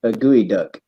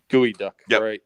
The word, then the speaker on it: geoduck: it's bait she says it's basically a geotag gooey duck gooey duck yeah when I first came to Washington there's actually a town named gooey duck so bigger than bigger than life itself you